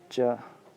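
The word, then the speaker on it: 这: च। यसको क्यारेक्टर चाहिँ यस्तो रहेको छ, अनि उच्चारण च रहेको छ।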